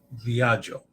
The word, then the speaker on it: Viaggio: Pronounce GGIO as Joe. Okay. It's not Zoe. Yeah. Joe. All right, so I got to go back and Il Viaggio.